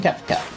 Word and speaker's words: Kefka: We are defending Naria from Kika. I pronounce it with the E because that it just seems kind of like a German name like Gerta and such.